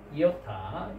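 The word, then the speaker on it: ι: Iota, iota, iota. Iota is the smallest alphabet in Greek alphabet. Iota, iota. Okay. So iota pronunciation is E sound, which is a vowel sound.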